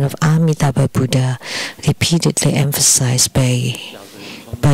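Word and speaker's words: Amitabha: of the name of amitaba Buddha the a in amitaba is very important and should not be pronounced as om for like in the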